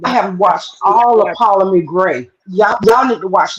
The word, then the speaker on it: Ptolemy: It's spelled with a P, but it's Ptolemy Gray.